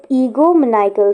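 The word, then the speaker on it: egomaniacal: Egoomaniacal is the pronunciation of ego right here. So ego maniacal.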